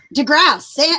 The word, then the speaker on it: DeGrasse: name so but I do cross II don't pronounce the e to grasp de Grasse I was gonna ask you before the broadcast